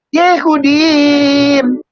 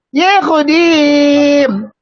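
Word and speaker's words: יהודים: Ini bacanya Yehudim. Kenapa imnya panjang? Karena ada yod. Ya Nandar ya. Nandar lu jangan diam aja lu. Ya, bacanya Yehudim.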